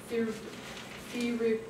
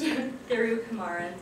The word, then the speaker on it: Thirukumaran: It's presented by Menica Thirukumaran. Yes. How do you say it like really fast? Thirukumaran.